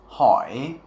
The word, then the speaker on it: hỏi: But in isolation, zo hỏi doesn't actually come back up. Or I'm sorry, when it's pronounced inside of words, it doesn't really come back up. It just kind of goes straight down and stops there.